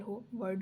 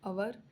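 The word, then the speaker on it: hour: हो but consonant letter हो word हो बट हमें साउंड्स पे फोकस करना है तो अवर जो होता है वो हवर नहीं पढ़ा जाता पढ़ा जाता है इसमें एच साइलेंट होता है।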